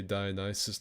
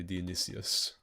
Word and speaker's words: Dionysus: It depends on how you say it, because I've heard people say Dionysus and I've also heard people say Dionysius.